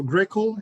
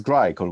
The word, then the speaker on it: Grycle: pronounce the name wrong so greco is that how you say it it is grey called we chose a very